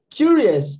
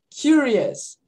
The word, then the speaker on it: curious: Finge que esse C aqui é um Q-U-I.